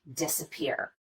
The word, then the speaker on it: disappear: secondary stress would be the first syllable in this word disappear we do spend some time on this syllable and we do make the vowel louder and longer but not quite as much as we do on this last syllable the third syllable peer if both of these